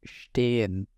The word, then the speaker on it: stehen: The next pronunciation is so English SH sound. And the example word given here is stehen.